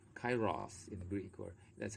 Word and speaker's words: Kairos: so cairo what does it mean actually it's pronounced kairos in the greek or that's a closer pronunciation but we pronounce it kairos the perfect delicate crucial moment the fleeting ripeness